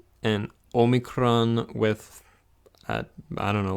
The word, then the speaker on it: Omicron: again well excuse me Omicron and this looks like an O and it is just